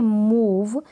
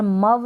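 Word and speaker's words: move: यहाँ पर है सम, सम हो गया अ, नन, यहाँ पर अ उच्चारण है। अब यहाँ पर देखिए मूव, यहाँ पर मव नहीं है, यहाँ पर मूव है।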